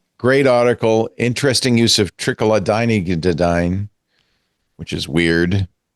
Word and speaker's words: Trochilidine: Trochilidine.